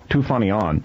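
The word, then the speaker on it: Toufanian: How's it pronounced? Beginning with a T? Tufanian.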